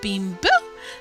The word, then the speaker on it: Bimbeaux: Bonjour, this is Bimbo. That's spelled Bimbeaux. It's French, you know.